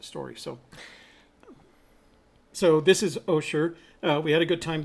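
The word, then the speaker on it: Osier: to OSHA oh sure it spelled OSI ER and it's pronounced oh sure make sure that when you speak to the locals you use oh sure and not Aussie er because they will correct you kind of like when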